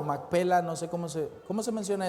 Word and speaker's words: Macpela: Macpela, ¿verdad? Porque está el acento en el P, ¿verdad?